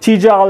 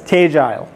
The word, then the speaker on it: Tegile: there's a lot of questions on is it tal is it tedel uh it's actually pronounced as teile um and if you're Wonder wondering where we